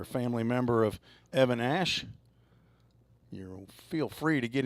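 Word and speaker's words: Ashe: I think their PA announcer down there was calling him Ashy, and I asked him, is that the correct pronunciation? And he said, I don't know. It's got an E at the end of it. So I said, oh, okay. I'm going to call him Ash, A-S-H-E.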